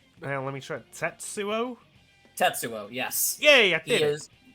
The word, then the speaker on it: Tetsuo: move on to the next one you can't pronounce uh that's well let me try tetsuo tetsuo yes yeah yeah he is you did it